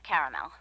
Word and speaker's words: caramel: Periwinkle, Loden, or caramel? The caramel, please. The what? I'd like it in caramel. Oh, the caramel? Yeah, that's what I said, Tina. Actually, you said caramel when it's pronounced caramel.